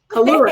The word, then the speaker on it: Collura: Collura. Am I pronouncing your name correctly? Collura. You Collura.